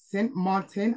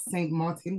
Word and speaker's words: Sint Maarten: side of the country um so it's actually pronounced St Martin and not St Martin which is the French side Maro Beach is